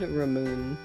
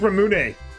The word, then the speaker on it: ramune: Ramoon. I love Ramoon. What's that? The soda? It's got like the ball in it. It's pronounced Ramune.